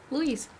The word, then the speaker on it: Luis: does it look like louise luis it's louise right louise louise like with a z yeah louise because like